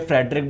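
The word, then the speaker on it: Friedrich: ठीक है, इनको फ्रेडरिक भी बोल सकते हो, यहां से प्रोनाउंसिएशन के ऊपर है, फ्रेडरिच बोल दो या फ्रेडरिक बोल दो।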